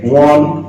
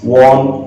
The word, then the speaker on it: one: কারণ দুটো উচ্চারণ same, one, want, one, want, তার মানে দুটোর আগে কে চলে আসে?